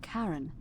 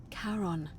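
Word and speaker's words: Charon: it's just as you described it, only your pronunciation is a little off. The name you heard wasn't Karen. It was C H. I knew it. O N. As in Karon, the fairyman of the dead.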